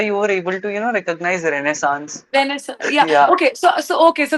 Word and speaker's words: Renaissance: I was like, it's Renaissance. Okay, ma'am, how do you know? मैंने my history teacher used to poke us कि आप ये रेनेसॉ बोलेंगे, इसको रेनेसेंस नहीं बोल सकते हैं।